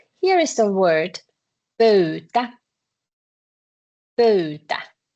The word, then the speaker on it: pöytä: You have to pronounce both. Y. Pöy. Pöytä. Pöytä. So when you see the vowels, just pronounce each one of them. Then it goes correctly. Pöytä.